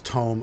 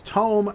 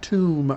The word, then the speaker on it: tome: It's tome, not tomb. Y'all learn how to pronounce the English language. It is tome, not tomb. It's not a tomb of town portal. Like a place where you buried town portal. Tomb is a place you bury things.